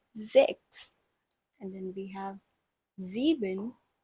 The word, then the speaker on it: sechs: This letter S has a little bit of a Z sound in it. So it's pronounced sechs.